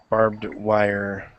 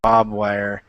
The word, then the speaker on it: barbed wire: on it okay so Barbed barbed wire okay that Bob wire and I'm telling you